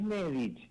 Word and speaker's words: Nedich: Es Nedich. Es Nedich porque lleva un acento en la e.